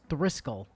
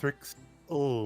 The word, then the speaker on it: Thrixel: Is Thriskel, not Thrixel? Oh. Nope. Thrixel. Yep.